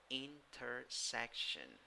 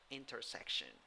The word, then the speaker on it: intersection: The third syllable in yellow is the one that has the primary stress, and the one having a secondary stress is the one in gray, the first one.